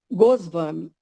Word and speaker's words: Goswami: pesquisar sobre amit goswami escreve amit goswami 1w certo mas pronuncia-se goswami então você ao pesquisar